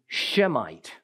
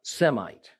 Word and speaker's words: Semite: the sense of how you pronounce it and spell it the word otabe shemite not Semite okay the error is a typical Gentile one